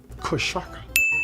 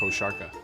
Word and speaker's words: košarka: The first word is košarka. Can you say košarka? Kosaraka. Kosaraka. Kosarka. Kosarka. Kocharka? Kosaraka. Kosakra? Kostarka. That's how you say it, right? Kostarka. Kosaraka. Karasaka. Karashka. One more time. Kosharka. Kosharka. Kosharka.